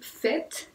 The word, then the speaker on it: faites: Vous faites, y ahí se escribe igual A-I, pero ahí sí lo pronunciamos como siempre pronunciamos la A-I en francés.